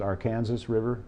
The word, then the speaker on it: Arkansas River: that new development of the Arkansas River which in some places is pronounced Arkansas River I think in Kansas itself so new development of